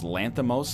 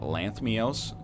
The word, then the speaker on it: Lanthimos: And apparently it's Lanthimos, not Lanthmios. I've been mispronouncing it for years.